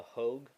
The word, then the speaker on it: Hogue: going to be the Hogue Real Steel Grip. That's spelled H O G U. Hog.